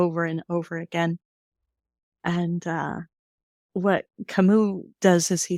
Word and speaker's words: Camus: Camus. You hit it right. Camus. Okay. Like a camel with an ooh.